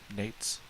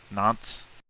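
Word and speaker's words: Nantes: What time does the sun rise in Nate's? Nanates? How do you say it? No. Nates? Nates? No. No. Nance?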